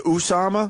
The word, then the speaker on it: Osama: What, Osama? Did he go with the Usama? Well, Fox is Osama. Fox loves saying Usama. Everyone else is Osama. I like Osama.